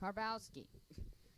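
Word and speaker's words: Karbowski: bar car boss key karpowski just like mike wazowski anyway what you got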